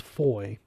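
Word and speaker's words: Fowey: town they learned that the various FES were all pronounced Foy and that even aside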